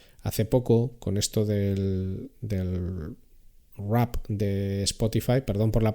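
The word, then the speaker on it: Wrapped: Hace poco, con esto del rap de Spotify, perdón por la pronunciación, pero es que claro, ¿cómo pronuncias W-R-A-P-P-E-D? Rap.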